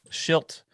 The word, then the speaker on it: Shildt: Shildt.